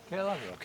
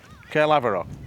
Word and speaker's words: Caerlaverock: So, we've arrived at Caerlaverock Castle. You do You just see it over there. Is that the right pronunciation, Roy? Caerlaverock, yeah. Caerlaverock.